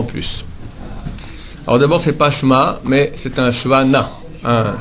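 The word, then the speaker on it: שְׁמַע: Maintenant avec Ain, Shema, et pas Shema, d'accord? Parce que des fois, Ain Hei, c'est A. Shema, Yisraël, Hashem Elokeinu, Hashem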